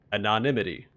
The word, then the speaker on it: anonymity: Anonymity. There we go. I try to add an extra syllable to it. So anonymity.